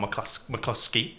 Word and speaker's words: McCluskey: I pronounced that right, haven't I? Yep. McCluskey. You got it right the first time.